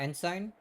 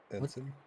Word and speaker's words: ensign: Enen, not ensign. Enson. Enson. Was I right? And that the G is silent. Why should Why Why put a G in there if it's going to be silent?